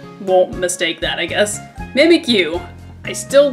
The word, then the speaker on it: Mimikyu: I guess like me I'm stupid and was pronouncing it mimu when mimic is spelled Mi m i let's just make it so everybody won't mistake that I guess mimikyu I still like it though I I really